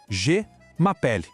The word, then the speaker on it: je m'appelle: Faz um bico como se fosse falar U, mas tenta soltar um som de E. G. Isso. O resto, m'appelle, a gente junta tudo e soa como se fosse uma palavra só. M'appelle. Vamos juntar as partes? Je m'appelle. Je m'appelle.